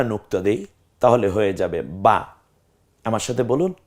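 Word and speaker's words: ب: দেই তাহলে হয়ে যাবে বা আমার সাথে বলুন বা বা টা উচ্চারণ করার সময় স্বাভাবিকভাবে এই ঠোঁট এবং নিচের ঠোঁট পেটের দিকে ঠোঁটটা চলে যাবে উপরের ঠোঁটের উপরের ভাগটা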